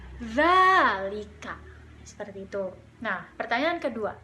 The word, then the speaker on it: ذلك: Tetapi kata za di sini harus diucapkan dengan lidah berada di ujung. Za, za, zalika.